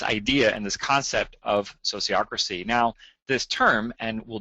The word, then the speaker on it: sociocracy: It's sociocracy. So I'm going to give you a moment. All right. Hopefully everybody said that and we're all on board. So it's sociocracy.